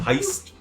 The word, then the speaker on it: Haste: a store heist a heist its haste but pronounced with a German accent I don't like better